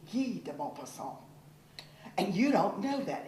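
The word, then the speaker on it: Guy de Maupassant: you're stupid in French it's not Guy deopa song it's g deopa song and you don't know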